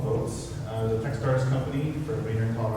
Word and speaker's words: Voatz: Okay, so Votes, anybody wants to look them up, it's VOATZ, it's like Boaz. But you know, Votes.